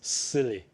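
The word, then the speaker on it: SIYLI: i y l y it's pronounced as silly so silly.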